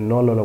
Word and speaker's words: knol: উলকপি ইংরেজি হচ্ছে অল রাবি, অথবা আপনি নলল বলতে পারেন, KOHLRAVI, রাবি, অল রাবি, KNOL, নল, KNOL। আমরা জানি কেটা সামনে হলে ইংরেজি কেটার উচ্চারণ আসে না, এই জন্যই অল রাবি নল অল।